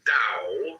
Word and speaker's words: Dao: The word Dao, properly pronounced Dao, has lent its name to a way of understanding and living in the world with profound implications for modern societies.